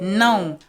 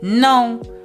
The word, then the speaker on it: não: No alterations, but in Portuguese, you have to be mindful of those nasal sounds. Não or pão, because if